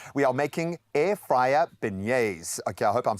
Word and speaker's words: beignets: Well, today we are making air fryer beignets.